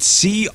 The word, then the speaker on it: coitus: Because it's spelled C-O-I-T-U-S, coitus.